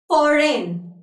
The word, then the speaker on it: foreign: So while I was pronouncing these words, you must have noticed that the letter G is not being pronounced by me.